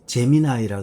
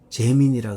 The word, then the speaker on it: 제미나이: 발음을 잘 하셔야 돼요. 이 제미나이라 그래야, 제미나이 하면 이 제미나이하고 AI가 있죠. 이 AI, 저는 이것을 사람들이 많이 쓰죠. 근데 제미나이라 하셔야 돼요. 재민이라 그러면 안 돼요.